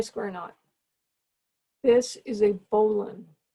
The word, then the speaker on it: bowline: is not a square knot this is a bolon it's spelled bow line and it is pronounced boolen and a bowline is a knot that you